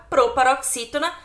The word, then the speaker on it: proparoxítona: A palavra proparoxítona é uma proparoxítona. Por quê? Porque a sílaba mais forte é o x, x. É o x e o i. Tem ali um acento.